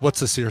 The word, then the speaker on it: Worcestershire: It's pronounced Wotzishere sauce.